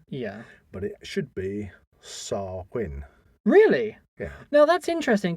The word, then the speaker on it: Samhain: most people and I have heard people uh pronunciate it as Sam Hayne yeah but it should be SAR Quinn really yeah no that's interesting because obviously we